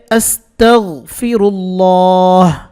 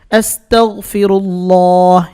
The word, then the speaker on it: আস্তাগফিরুল্লাহ: করতেন ইস্তেগফারটির উচ্চারণ হচ্ছে আস্তাগফিরুল্লাহ আস্তাগনের উচ্চারণ ঠিক করতে হবে আস্তাগফিরুল্লাহ এখানে আছে লা লা লা বাংলাতে বললে লা হয় কিন্তু আরবিকে আরবির মত করে বলতে হবে আস্তাগফিরুল্লাহ বলতে হবে আস্তাগফিরুল্লাহ অর্থ আমি আল্লাহর ক্ষমা